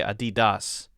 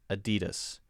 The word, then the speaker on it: Adidas: JP Dana Book says, how do you pronounce Adidas? I've heard some people say Adidas, but everyone that I've ever heard say it says Adidas.